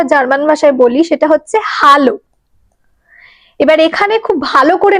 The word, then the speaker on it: Hallo: এবার জার্মান ভাষায় এ কে আ উচ্চারণ করা হয়, একদম আ। তো সেই জন্য আমরা এটাতে বলবো হ্যালো।